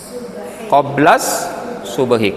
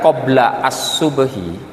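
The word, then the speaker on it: قبل الصبح: Contoh di situ dibaca qoblas subhi, karena idhofah membacanya nggak boleh lebih bagus disambung, ibu. Daripada jenengan membaca qobla as-subhi, mending jenengan lebih baik membaca disambung kalau idhofah, qoblas subhi.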